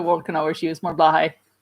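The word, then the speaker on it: Blåhaj: The world can always use more Blahai. Or Blowhai is how it actually is pronounced, I believe. I always say Blahai. It's more like Dutch pronunciation, I guess.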